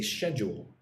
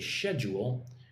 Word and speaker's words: schedule: Yeah, I think in Britain they say schedule. Right? In Britain, and I think Canada, they say schedule, whereas America, they say schedule with the k sound.